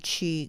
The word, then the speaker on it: qi: so they named it chi gong chi is though it's spelled q i in this case is